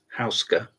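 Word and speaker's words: Houska: female player yofi housea it's taken me a very very long time to learn how to pronounce her name and she likes it and her name is Yanka but she's would like to be called yui and uh housea you'll hear all sorts of other ways of pronouncing it but that's what she prefers and uh I'm in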